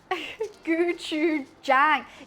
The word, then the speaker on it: gochujang: I just looked it up. Guu Jang. Jang. Guu Jang. It sounds like gotcha. Y John don't think it does.